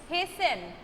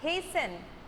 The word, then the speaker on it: hasten: The pronunciation is hasten, not hasten, but hasten.